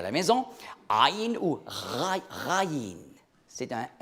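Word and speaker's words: عين: Alors, des sons gutturaux, c'est comme par exemple en arabe, aïn, vous voyez, aïn, ça prononce très bas dans la gorge, aïn.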